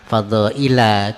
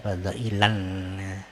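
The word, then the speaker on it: فضائل: itu, yakni Nabi Muhammad, fadhaila, kepada beberapa keutamaan. Di sini tertulis pakai tanwin di sini, ya, tapi bacanya biasanya tak usah pakai tanwin, ya. Fadhaila begitu, jangan kita baca fadhailan.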